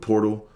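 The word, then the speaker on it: Pöltl: Versus Jakob Portal. Jakob, that's a dope name. Jakob Portal. Like, if you see it on paper, his last name is spelled Poetl, but somehow there's an R in that bitch.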